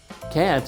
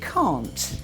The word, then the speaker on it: can't: Can't is pronounced differently in British and American. Yes, I say can't. And I say can't. That's different. Listen. Can't, Can't. can't. Can't. It's a different vowel sound.